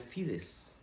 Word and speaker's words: fides: En realidad, cuando hablamos de la fe, la palabra fe, proviene de un latín que se pronuncia fides, que significa creer.